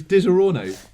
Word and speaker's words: Disaronno: It's how it's spelt. It's Disaronno.